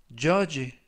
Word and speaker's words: judge: 이번 표현은 judge, judge, judge 라고 발음하시면 되겠고요. 이때 유의하실 점은 가운데 부분에 있는 알파벳 D가 이번 단어에서는 묵음이라서 발음이 되지 않습니다.